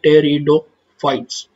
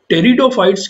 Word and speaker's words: Pteridophytes: यहाँ पर पी देखिए साइलेंट है, इसको याद रखना है आपको। जब भी आप प्रोनाउंस करेंगे तो पी यहाँ पर साइलेंट है, इसलिए आप इसको कहेंगे टेरिडोफाइट्स। नाउ टेरिडोफाइट्स के यहाँ पर दो